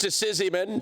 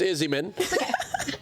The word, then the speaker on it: Izzyman: Izzyman. Commonly mispronounced Sizzyman, but it's Izzyman.